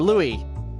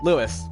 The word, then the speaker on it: Lewis: His name's Lewis! Or Louis. No, Lewis.